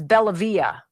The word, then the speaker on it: Bellavia: Oh, I was pronouncing his name wrong, Kelly said. It's Bellavia. Bellavia.